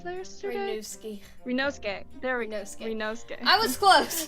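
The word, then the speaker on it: Ryunosuke: Excellent work, Renus. How did I pronounce that yesterday? Renosuke.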